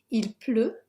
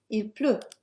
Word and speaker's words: Il pleut: Il pleut. Again, we have another letter that's not pronounced. Let's get that highlighted. No T sound. Il pleut.